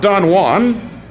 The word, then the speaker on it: Don Juan: poem called Dom juin not Don Juan as it should be pronounced in Spanish but it is pronounced as the British would say it in their provincial John Bull way Don juin Don June is narrated